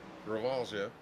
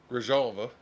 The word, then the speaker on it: Grijalva: Stone and Wild are going to yield to King, Kelly, Parker, Gravalja. How do you say the name? Grijalva.